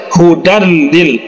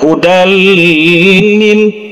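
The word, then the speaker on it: هُدًى لِ: dari pada idgham bilagunnah jadi cara membacanya dilangsungkan saja Hudan Lil ya jangan didengungkan udah lilin itu salah itu keliru Jadi langsung saja kita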